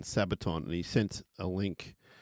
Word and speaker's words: Sabaton: to a band called I think it's called pronounce Sabaton sa a b a t o n Sabaton and he sent a link of a pretty